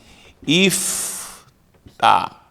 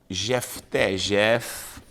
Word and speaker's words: Iftá: certa, Iftá, traduzido como Jefté, Jefté, por que não pode ser Jefté? Porque a letra J, o som de J, justamente não existe no hebraico, então é Iftá.